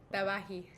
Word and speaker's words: Tabaxi: I'm from Chicago, so I pronounce it Tabaxi. How do we say that with more of a... Tabahi. Tabahi. I like that. It's a little more authentic.